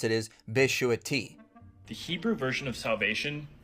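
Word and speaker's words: ישועתי: Well, the specific Hebrew word in Psalm 91 would be my salvation, and the way you would pronounce it is Beshuati.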